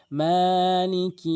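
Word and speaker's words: مَٰلِكِ: বলে বলতে হবে রাহিম আর রাহমানির রাহিম এরপরে মালিকি ইয়াউমিদ্দিন এখানে এক আলিফ টেনে পড়বেন মিম মালিকি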